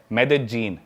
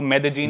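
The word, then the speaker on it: Medellín: Colombia एक country है south America continent में, उसकी एक सिटी है मेदेजीन। स्पेलिंग में उसमें डबल एल आता है, मेदेलीन होता है, लेकिन कोलंबियन स्पेनिश में ल को ज बोलते हैं, तो मेदेजीन।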